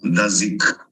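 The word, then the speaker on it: 大食: they use the term Da Shi. This is a pronunciation today. When we read the Chinese two characters, Da Shi. But according to the ancient pronunciation, it should be Dazi or Dazik.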